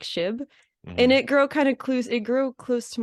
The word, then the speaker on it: Shib: I would say Shib. They're like, shit? No. Shib, like SHIB.